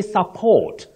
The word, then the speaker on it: support: The first word, you say support. The stress is on the second syllable. Support, whether it functions as a verb or a noun.